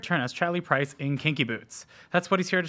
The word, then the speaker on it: Kinky Boots: I like to say it like Billy Porter says it. Kinky Boots. He likes the boots. Yeah, he puts the emphasis boots. on the boots.